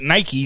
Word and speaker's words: Nike: was it a niche I mean Phil Knight himself calls it Nike so he's the founder I'm gonna stick with what he said is he saying it